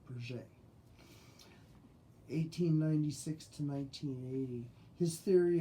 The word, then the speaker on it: Piaget: Yeah, it's got a T, but I think it's pronounced Piaget.